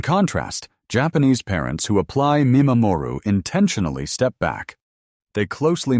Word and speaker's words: mimamoru: And the second pillar of Japanese parenting philosophy is a concept called mimamoru. Pronounced me ma moo roo Linguistically, this word is composed of two parts. Me meaning to observe and ma mo ru meaning to protect.